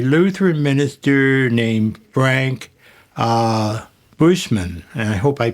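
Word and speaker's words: Buchman: There was a Lutheran minister named Frank uh Bushman. I hope I pronounced his last name correctly.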